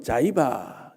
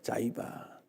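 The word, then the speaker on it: Ziba: 하는 종의 이름이 나왔습니다 참이 발음이 우리나라 말을 좀 어감이 안 맞는 사람인데 영어로는 자이바 나옵니다 자이바 디바 우리나라 말이 오히려 히브리 말이 더 가까울 수 있습니다 히바라 하는 종이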